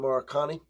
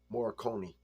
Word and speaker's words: Morricone: Afio Maracani. Morricone. That's how you say it. It's Morricone.